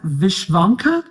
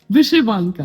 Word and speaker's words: vyshyvanka: Correct me if my pronunciation is correct. Is that Vishvanka? Vyshyvanka.